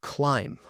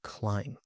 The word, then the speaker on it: climb: For example, in the word climb. The B is silent. Climb.